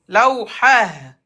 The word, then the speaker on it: لوحة: لوحة Non, regarde, le T fermé, t'enlèves T et tu mets Ha à la fin. Muallimatun. Muallimah. Lawhatun. لوحة Lawhah.